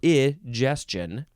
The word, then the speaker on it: egestion: better information egestion now this is not digestion it's e or E Justin e g e s